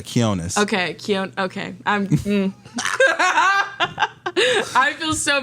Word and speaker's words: Quionez: Quiznos is definitely one. Quionez. I've gotten a lot. Yeah, Quionez.